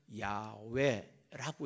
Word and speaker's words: 야훼: 여호와라고 써놓고 여호와라고 안 읽어요. 뭐라고 읽냐면 야훼라고 읽었어요.